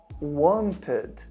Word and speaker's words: wanted: Somente se antes do e o verbo ele tem as letras ou a letra T ou a letra D. Por exemplo, se eu falar eu quis ou eu queria, eu vou falar I wanted. I wanted. Então, entre o som do T e do D, tem esse tem um um pequeno som de uma vogal ali.